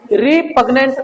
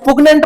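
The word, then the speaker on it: repugnant: ये क्या है आपका रिपगनेंट रिपगनेंट बोलो ना पगनेंट मत बोलना रिपगनेंट उसके बाद में आपका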